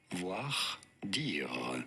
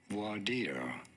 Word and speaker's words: voir dire: In French, for reference, it is said as voir dire. So if you know But that. in English, it is normally said as voir dire.